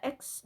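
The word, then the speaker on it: Mac OS X: kepada penggunaan angka romawi awalnya kata X diucapkan sebagai 10 atau 10 namun kebanyakan pengguna sering menyebutnya menyebutnya sebagai huruf x saja mengenai versi pertama dari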